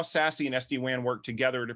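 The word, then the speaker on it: SASE: access services edge uh you'll hear it pronounced sassy quite a bit i would actually like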